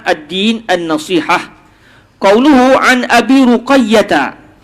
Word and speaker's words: Ruqayyah: Ruqayyah huwa bi dhammir ra wa fathil qaf wa tasydidil ya. Kenapa sampai begitu sekali kau salah sikit apa salahnya? Ni sampai bacanya adalah dengan dibariskan huruf ra dibaca baris atas pada huruf qaf, ruqa. Jangan baca raqi, ruqa. Lepas tu ya tu disabdukan ruqayyah.